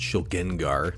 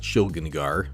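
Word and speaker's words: Shilgengar: Now there's going to be the pronunciation bros in here. They're going to say, no, it's Shligengar. It's not Shligengar.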